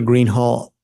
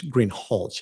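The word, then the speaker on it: Greenhalgh: you your honor officer Greenhall I believe I'm mispronouncing your name it's green holch isn't it correct okay I apologize will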